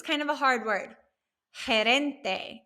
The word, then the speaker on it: gerente: Gerente. It has that soft G sound.